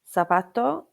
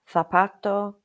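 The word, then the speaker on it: zapato: However, in some areas of Spain, it can sound like a th. For example, here in Lanzerati, we would say zanoria meaning carrot, sapato meaning shoe, and sumo meaning juice. But in other areas of Spain, you will hear than sapato sumo.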